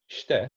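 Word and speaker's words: して: we're not careful so for example stare which means to do or please do is quite a rolling soft we barely pronounce the e and we kind of roll over the tip so it's yeah if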